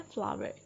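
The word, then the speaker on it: flour: नाउ द आटे की सही जो इंग्लिश है या सही प्रोनाउंसिएशन है वो है फ्लावर. इसको आप फ्लोर नहीं पढ़ेंगे. फ्लोर मीन्स होता है फर्श.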